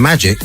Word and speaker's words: MAGIQ: You've got to look for One Bad Mix, and it's one ONEBAAD mix, or just do search for Magic, and it's spelled MAGIQ.